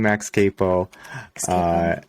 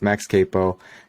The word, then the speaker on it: Max Capo: A lot of people think I'm Max Capo. It's actually Max Capo.